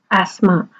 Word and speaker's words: asthma: experienced during winter so if we say asthma ah asthma sorry asthma arts ah so in it there are four phonemes and we don't actually pronounce the pH we can do an